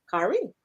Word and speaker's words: Kari: Getting Crafted With It said, my son's name is Kari, pronounced Kari. That's a pretty name.